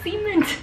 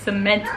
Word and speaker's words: cement: truck and i'm like joseph is that a siemens truck that sounds like another word without the c at the end like that's not how you say it it's cement truck point is what were